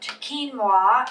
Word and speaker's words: quinoa: you're cooking today we're going to talk about quinoa and cook up a a dish that has